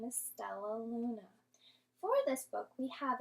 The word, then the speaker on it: Stellaluna: down into syllables let's break it down using our clapping hands so sounds like we have four syllables so now let's do one more time so and let's say it all together lets blend all of our syllables together stellaluna so our book is